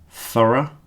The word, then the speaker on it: thorough: The last ones are pronounced just with the schwa sound, schwa, the sound that goes So if you listen to this, thorough, borough.